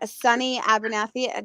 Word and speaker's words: Sunny Abernathy: Dylann Crush and Sunny Abernathy.